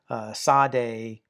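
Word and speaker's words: צ: Sade, and it's the pronunciation value is it's represented by an S with a dot underneath it, and that's like a hissing S.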